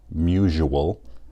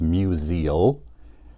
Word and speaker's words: Musial: people Simeon pronounces it misual but it's not it doesn't rhyme with usual it's museal so it's more about